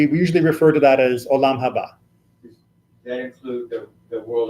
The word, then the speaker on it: Olam Haba: And then we have Olam Haba, which is How do you say it again?